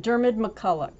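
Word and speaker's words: Diarmaid MacCulloch: believe by what's uh honey how do you pronounce this dharma jeremiah dermod mcculloch yeah dermot thank you that's my name it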